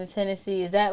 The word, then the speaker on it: Hennessy: So Genesis is like the beginning of the Bible, and in Spanish it's Hennessy. So a lot of parents name their kids Genesis, but my mom named me Hennessy.